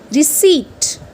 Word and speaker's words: receipt: buy something, it's like receipt. Receipt. P silent over here. Okay, you don't have to say it receipt, it's receipt.